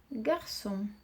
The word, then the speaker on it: garçon: Garçon.